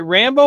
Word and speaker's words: Rambo: So this is the memoirs of Henry Rambo and how he escaped from fundamentalist religion. Is it Rambo or Rainbow? Rambo. Is it like Sylvester Stallone Rambo?